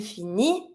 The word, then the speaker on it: finit: The T is not an R. Same as usual, I don't pronounce it. So if I want to say he finishes, she finishes, il finit, elle finit. I don't pronounce my T.